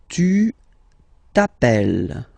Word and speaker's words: t'appelles: Alright, second form, tu t'appelles. Okay, remember, final S not pronounced.